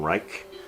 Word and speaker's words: Reich: How do you pronounce his name? Stephen Reich.